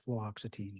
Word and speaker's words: fluoxetine: Fluoxetine.